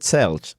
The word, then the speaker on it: Sells: That would be in Catalan. You could pronounce it Selge, in case you were wondering.